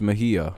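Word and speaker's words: Mejía: see what i mean it's spelt mayhah but it's mejia he takes strike one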